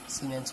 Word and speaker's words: Siemens: Spelling होती है SIEMENS, सीमेंस करके, ठीक है।